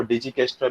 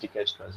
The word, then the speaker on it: Dijkstra: Generally कुछ layman language में इसको डिजिकेस्ट्रा भी बोलते हैं, but generally the pronunciation is always डिकेस्ट्रास.